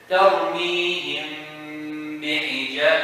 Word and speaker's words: ترميهم بحجارة: So it's like doing this. ترميهم بحجارة. You cannot say ترميهم بحجارة. That's what showing the meaning. Or you cannot say ترميهم بحجارة. That's idgham. It's very light. It's to hide it very lightly.